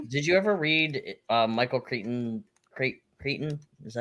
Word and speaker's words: Crichton: Did you ever read Michael Crichton?